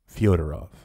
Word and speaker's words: Fedorov: directions was Nikolai federovich federov 1829 to 1903 pronounced and sometimes transliterated fiodorov an eccentric abius 19